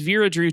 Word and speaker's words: Vera Drew: and Twitter terms is Veera drew 22 makes it memorable you know to have a number rhyme with my name birra dritt when t2